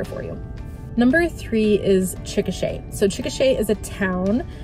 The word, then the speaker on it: Chickasha: So this one's always a little bit hard to pronounce because some people will say it Chickasaw. So I learned that it's actually the word Chickasha is the nation of